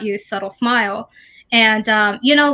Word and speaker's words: xsubtlexsmilex: subtle x smile x so it looks complicated but it's pronounced subtle smile all right so that's